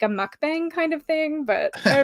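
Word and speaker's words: 먹방: is a Eating Room mukbang Muk mukbang mukbang it's like halfway between an o and a u it's one of those sounds we don't have in English I can pronounce like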